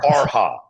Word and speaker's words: Farha: So I say it wrong. It's not Farah. It's Farha. We always say it wrong. It's not Farah. It's Farha. Because guys don't get that because it's kind of fucked up when we say it. Because I said it wrong. It's Farha. It's H-A.